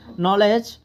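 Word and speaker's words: knowledge: পারো technique and নলেজ নলেজের তো কি উচ্চারণ হবে না ঠিক আছে নলেজ এটা হবে না জাস্ট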